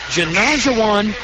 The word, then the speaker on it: Janajawan: The junior's name, again, is Janajawan Sukman. If you're a basketball fan, it rhymes with Olajuwon, as in Hakeem the Dream Olajuwon.